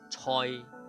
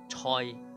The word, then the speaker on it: 蔡: 广东话蔡的广东话拼音是 COI 第三个音蔡蔡蔡先生蔡先生。